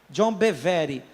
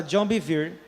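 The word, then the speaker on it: John Bevere: Se se escreve BE V re. John Bevery, mas fala John Bir.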